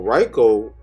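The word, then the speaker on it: Riko: the anime and sometimes I just forget their pronunciation but let's move on so Rico let me just say REO so Reiko she's basically a orphan right and how it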